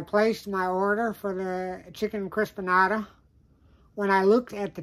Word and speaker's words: Chicken Crispanada: But for some reason, whatever that is, my brain has been reading it all evening as Chicken Crispananda. So that's why you hear me mispronounce it in this video several times. It's actually Chicken Crispanada.